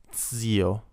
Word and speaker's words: zio: Zio, uncle, like cats. Zio.